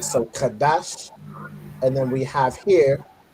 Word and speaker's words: Qadash: So if you look at the Hebrew, we have ka right here, then we have a da and a sha joined together to make dash. So this is how we get Qadash, right?